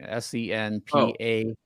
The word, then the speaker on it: senpai: in your ultimate Halo announcer voice Notice Me Senpai please notice me what senpai like it's a Japanese thing s-e-n-p-a-i Senpai senpai yeah just say it Notice Me